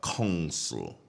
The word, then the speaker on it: consul: head of the consulate is called a council uh and that is spelled c-o-n-s-u-l all right embassies are